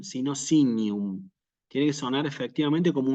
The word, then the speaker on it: signum: cuanto a la pronunciación lo que sucede con la letra g y con la letra n nosotros la tenemos que pronunciar siempre que se trate de latin eclesiástico como una ñ si per sinum no